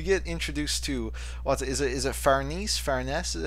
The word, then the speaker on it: Farnese: so, like, we get introduced to, is it Farnese? Farnese is how you say her name? Farnese. Farnese, yeah, so we get introduced to Farnese, who